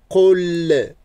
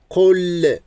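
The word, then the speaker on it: قل: Qul l. Il ne faut pas oublier de prononcer L. Qul a'udhu.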